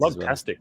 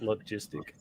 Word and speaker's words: Logtastic: things Logtastic, not Logistic.